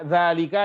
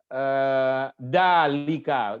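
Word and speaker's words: ذلك: Umpama saja, zalika dibaca dalika, nggak pakai zal.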